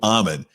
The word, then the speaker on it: Amen: Now it's spelled Amen, or at least that's how we pronounce it at home, but it's Dr. Daniel Amen.